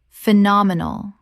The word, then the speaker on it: phenomenal: Phenomenal. Four syllables with the stress on the second.